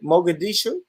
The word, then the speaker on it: Mogadishu: Am I saying right? Mogadishu? Yeah. You're saying it right.